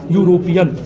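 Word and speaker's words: European: लेकिन नहीं इसका उच्चारण ऐसे होता है यूरोपियन जो कि य से स्टार्ट है इसलिए यहां पे एन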